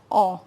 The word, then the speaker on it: on: people in general and its pronunciation is awe now people in general